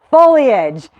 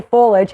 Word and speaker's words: foliage: know how to say the word it is foliage thank you so much everyone who corrected me now now I know how to say it right and I'll probably still say foliage every once in a while because that's how